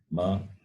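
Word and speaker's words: म: We use Mahalakshmi, ma, Mata, ma. So this is the fifth letter of this class, which involves the usage of the lips and the nose. Therefore, the pronunciation is ma.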